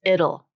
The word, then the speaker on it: it'll: It'll becomes it'll, just like in the word little or Italy.